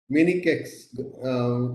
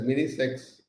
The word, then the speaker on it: Mini-CEX: Dr Gita Dr Deepa miniex is pronounced not as minex especially if a male